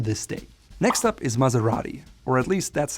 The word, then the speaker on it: Maserati: Now the proper way to say it is Maserati. Again, you have that rolled R that comes from the tongue, R, Maserati. It's not like a soft S like Maserati.